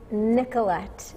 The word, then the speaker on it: Nicholette: discover the art of Nicholette. Nicholette, welcome to the show. Thank you. Do you like Nicholette or Nicolette? Is the accent et or? It's Nicholette. Nicholette. What I like, yes. Okay, Nicholette. Thank you.